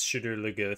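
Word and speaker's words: Shadar Logoth: the show into should chadur not the actual pronunciation yeah we can't we can't confuse the two it's shooter lagoon that's good nate continue sorry go ahead nate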